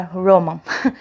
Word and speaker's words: Roman: A pronúncia correta do nome dele é Roman, não é...